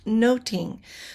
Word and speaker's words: nothing: Uh language note, uh nothing during Shakespeare's time would have been pronounced noting.